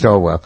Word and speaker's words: Swalwell: It's Swalwell.